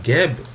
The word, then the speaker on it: Geb: Parce que dans le fond, ici, on dit Geb simplement parce qu'on rajoute un E pour pouvoir prononcer un mot, ou en tout cas un squelette à deux consonnes qui est G et B.